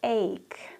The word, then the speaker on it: ache: her ribs were broken to hurt or to ache pay attention to the pronunciation to ache I have twisted my ankle now it hurts